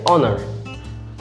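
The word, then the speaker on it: honour: কিন্তু এবার যদি এটা দেওয়া হয় যে অনার, এটার শুরু হচ্ছে এইচ দিয়ে কিন্তু এর উচ্চারণ হচ্ছে অ দিয়ে, বাকিটার উচ্চারণ বলা হয় টোটাল উচ্চারণ হচ্ছে অনার।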